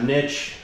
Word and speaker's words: niche: Got the nice niche or niche, however you want to pronounce it.